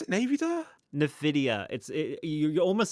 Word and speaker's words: Nvidia: Navida. Is that how you pronounce it? Navida? Nvidia.